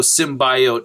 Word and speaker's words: symbiote: saw it is that, how do you pronounce the word biology? It's bio, right? So symbiote, and we're talking about organisms here, biological organisms, so bio, symbiote. When I go back and